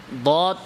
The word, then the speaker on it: ض: আসলে দদ না দালের মতো না ভয়ের মতো, বরং দদের উচ্চারণটা এটা তার সম্পূর্ণ নিজস্ব উচ্চারণ।